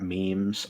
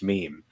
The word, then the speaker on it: meme: like consciously looking at memes I saw rage comics from a friend they showed me rage comics and I could not pronounce meme I was positive it was like me me like I could